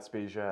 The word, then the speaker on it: Spezia: the last name right so can you please pronounce white for the world for me yeah my name is matt speciai of initially from Leavenworth Kansas currently reside here